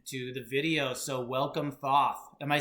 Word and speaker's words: Thoth: So welcome, Thoth. Am I saying it correctly? Yes, sir. Thoth.